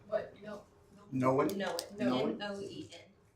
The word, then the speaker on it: Noen: I also go by Noen. What? No. Noen? Noen. N-O-E-N. It is spelled neon, it's neon spelled backwards.